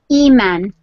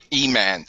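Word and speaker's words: Emaan: E-Man. Spell it. E-M-A-A-N. E-Man. Yeah. E-Man.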